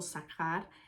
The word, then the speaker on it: זכר: de esta raíz palabra zahar o zajar eh a las siempre que vean cuando se está traduciendo algún idioma y que vean sea H se pronuncia como J en español entonces diría zaharias y